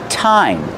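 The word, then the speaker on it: thyme: we have this one it's pronounced time that's right time like what time is it the pronunciation is time use the real T sound time and this is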